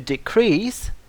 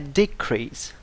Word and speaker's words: decrease: drop a fall again please look at the difference in pronunciation between the verb to decrease and the noun a decrease the stress falls on different syllables if you want to